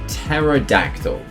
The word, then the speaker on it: pterodactyl: Then we've got ocean eggs and the fossil egg with a pterodactyl. Yes, that's actually how you spell pterodactyl. The P is silent, in case you wanted an English lesson.